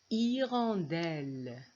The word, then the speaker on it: hirondelle: 8 la deuxième image hirondelles y rendent elles quand vous voyez aussi ici j'ai pas prononcé le h1 she is her au